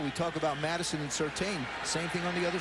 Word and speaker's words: Surtain: We talk about Madison and Surtain. Same thing on the other side of the ball. You say it right? Surtain.